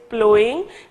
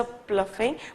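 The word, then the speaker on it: ploughing: तो प्लोइंग, please ये जो है करेक्शन करें इसको, this word is pronounce as प्लोइंग, ठीक है, जैसे कि in previous lecture I may have pronounced as अ प्लफिंग बट इट इज नॉट, इट इज प्लोइंग, ठीक है।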